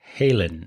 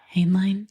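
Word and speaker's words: Hainline: written by Paul Campbell, Kimberly Susad, and Russell Halen or Haline. Sorry if I mispronounced it. I think it's H A I N L I N. H Han line.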